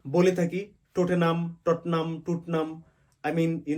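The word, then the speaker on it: Tottenham: থাকি লাইসেস্টার square Leicester square লেসেস্টার square so উচ্চারণ হবে লেস্টার স্কয়ার টনাম কে বলে থাকি টটেনাম টনাম টোটনাম I mean you know বিভিন্ন ভাবে বাট সঠিক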